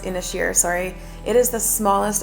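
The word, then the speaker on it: Inis Oírr: They have a unique culture, a lot of fascinating history, and we spent the day on Inosur, which is this actually it's pronounced Inishier.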